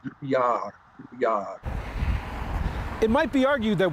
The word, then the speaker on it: Drouillard: I-double-L is pronounced with like a Y sound. Yeah, so it should be Drouillard.